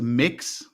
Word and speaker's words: Mx: know about it you know make pronounce it's pronounced the mix and it's m-i-x but it's but it's spelled